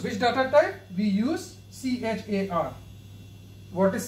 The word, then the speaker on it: char: second data type the second data type is c h a r a c t e r how to work